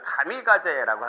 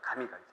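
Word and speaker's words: 神風: 이거를 일본 애들이 뭐라고 읽냐면은 가미가제라고 하는 거예요. 가미가제.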